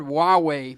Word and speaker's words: Huawei: It looks like it's Hawaii. Hawaii. But it's called HUAWEI.